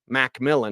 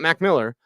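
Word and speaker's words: McMillian: Wallace jquan Mac Millan it's how he wants to pronounce so MC Millan not MC Miller MC Millan um yeah it's in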